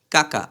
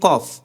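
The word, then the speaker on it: ق: কাকা এই যে কাকা কাকা আমরা কিন্তু কাকা বলিনি কইটা ছিল কফ কিন্তু এটা হচ্ছে কি কাফ কাকা অর্থাৎ জিবার গোড়া থেকে একটু সামনে একটু সামনে থেকে তার বরাবর উপরের তালুর সাথে লাগবে জিহ্বার গোড়া থেকে একটু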